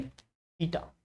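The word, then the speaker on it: theta: ये है pronunciation, थीटा।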